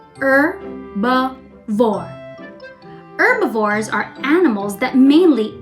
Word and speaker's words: herbivore: It is pronounced with a silent H. Herbivore.